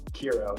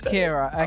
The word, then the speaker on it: KERO: Uh we can get into where my alias came from, but uh yeah, Kira. That's that's Kira.